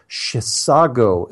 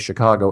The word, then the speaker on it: Chisago: email on your show you did pronounce the city correctly Chisago city Minnesota most people save Chicago and what why wouldn't they I mean it looks like a typo for Chicago I've never even heard